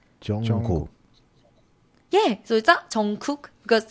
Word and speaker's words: Jungkook: so it's in the middle so it will pronounce Jungkook yeah because it sounds like okay cook yeah